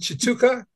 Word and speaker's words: Tshituka: former Ballroom dancer uh his name is Chuka did I pronounce it right he actually did that's